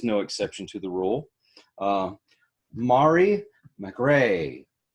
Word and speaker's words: Mari: MahRee, right? Did I say it right? Yes.